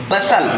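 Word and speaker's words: bustle: इसके बाद में बसल, इसको यहाँ टी साइलेंट रहेगा, है ना। क्या बोलेंगे? बसल। बसल मीन्स होता है हरीड मूवमेंट, अफरा तफरी में जल्दी जल्दी भाग कर जाना, है ना।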